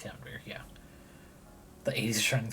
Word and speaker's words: Camembert: I think it's pronounced Camembert, yeah.